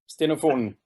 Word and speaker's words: Stenofonen: I'm going to mispronounce it. It's Stenofonen? Yes, exactly. Stenofonen.